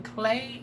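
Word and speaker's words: Klei: tip between geo and king clay i think that's how you pronounce it k-l-e-i once again i'm bad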